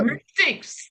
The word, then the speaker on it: MAPTYCS: So, to help you on the pronunciation, think about mapping and analytics. That's how we came Oh, to MAPTYCS.